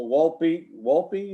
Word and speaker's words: Wolpe: next item on the agenda is the Wolpe, is that the pronunciation?